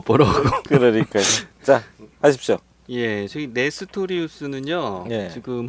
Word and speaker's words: 네스토리우스: 사람들을 레스티우스파라고 했습니다 발음을 정확히 하면 내 스토리우스토리우스 아 내 스토리우스 스토리우스에 대해서 오늘 한번